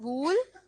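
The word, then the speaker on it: wool: वुल। क्या होता है ये? वुल। सो इट्स नॉट वूल, इट्स वुल।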